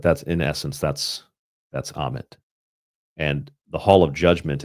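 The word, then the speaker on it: Ammit: Amit is a very nasty looking creature. Crocodile, um, lion, hippopotamus. It's a, it's a nasty looking creature. It is pronounced Amit.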